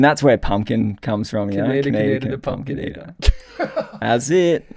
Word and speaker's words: Kaineder: I guess if you look at the origin of a word and it's from Austria. Austrian. So I guess you'd say it like Kaineder. Kaineder. But with the Aussie thing, it's just Kaineder.